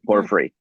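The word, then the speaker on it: porphyry: Is that the pore por I couldn't pronounce it is that poor periphery or something? Perfree.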